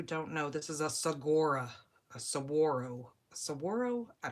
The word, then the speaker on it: saguaro: Saguaro or saguaro, I think the G is silent But we have a whole side of a mountain over here.